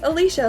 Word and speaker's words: Alicia: It's Alicia, like a leash for a dog.